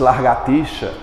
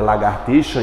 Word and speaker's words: lagartixa: Quantas vezes a gente já disse largatixa, quando na verdade é lagartixa, igreja, igual.